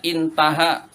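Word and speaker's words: انتهى: Hamzah, ha itu namanya intaha, dibacanya intaha, selesai sudah.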